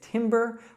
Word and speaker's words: timber: So the correct pronunciation is timber with that short I.